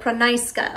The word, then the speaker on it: Pranysqa: and I'm from Florida okay there we go Prisa okay so now I know how to say